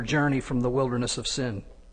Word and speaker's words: Sin: from the Wilderness of sin actually that should be pronounced seene according to the Commandment